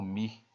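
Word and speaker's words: μ: uma letra grega tá essa letra grega Ah tá ela é pronunciada como me Ah tá me tá com ele novamente como me Ah tá certo e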